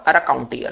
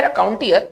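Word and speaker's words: raconteur: तो आज इस वीडियो की शुरुआत करते हैं वर्ड रकाउंटियर से। देखिए, एक वर्ड है रकाउंटियर जिसे हम लोग गलत तौर पर रिकाउंटियर पढ़ते हैं और रिकाउंटियर लिखते भी हैं, ठीक है ना।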